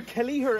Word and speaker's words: Kelliher: So we're here in Ross Castle in County Kerry in Killarney with the legend Seán Kelliher. Or Kelliher, as you pronounce it in Kerry.